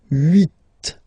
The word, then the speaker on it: huit: Then here, final T is pronounced. So huit, huit.